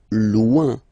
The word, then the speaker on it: loin: Loin. So remember when you get this combination O-I-N, it's ouin, ouin, ouin, okay?